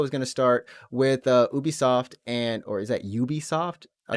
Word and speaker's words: Ubisoft: We'll say Ubisoft. In Japan, it's UBI Soft for some reason. Like Really? that's how they pronounce it.